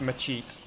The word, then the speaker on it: machete: Sorry, I know I've been mispronouncing that like all the stream. I know it's machete. I just uh it's like a it's a bit of a verbal blind spot for me.